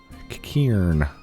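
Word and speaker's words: Qiqirn: mercenaries was bested by a bunch of kikiren Kieran that's how you say it um and then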